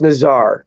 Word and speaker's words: Nazar: Naz I believe yeah I believe it's pronounced Nazar I I booty here